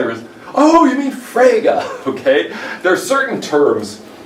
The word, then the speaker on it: Frege: guy and eventually I was Oh you mean fragga okay there are certain terms in and especially